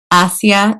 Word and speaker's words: Asiya: And I would love to hear it pronounced well. Bityah. Bityah. Thank you for this lovely conversation about And Bityah. Asiya. And Asiya. Oh, yes. Thank you. And say that one more time. Asiya. Asiya Bityah.